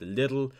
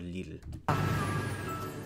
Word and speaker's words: Lidl: There they usually are pronounced Lidl, but in Germany they are called Lidl.